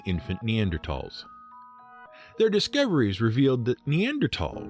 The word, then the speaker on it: Neanderthal: The TH in THAL is pronounced as a hard T.